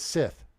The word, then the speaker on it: scythe: Scythe. Oh, dang it. See, I said scythe because the thing said scythe. Scythe. It has a long I indicator over it. It's a scythe.